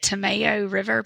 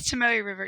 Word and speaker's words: Tomoe River: quite a bit, but Tomato River paper. I'm probably completely botching the pronunciation of that because of my southern drawl. I've heard it as Tomoe River, but that's all right. I don't know what that's right. Yeah, it is Tomoe River, y'all.